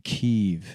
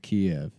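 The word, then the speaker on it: Kyiv: And the new thing now is saying Keev instead of Kiev.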